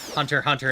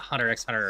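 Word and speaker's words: Hunter × Hunter: The developers have said so, even though for Hunter Hunter and other stuff, you're not actually supposed to pronounce the X. It's not Hunter X hunter or Hunter cross Hunter.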